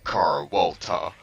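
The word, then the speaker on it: Carlota: Oh, it's actually pronounced Carwolta.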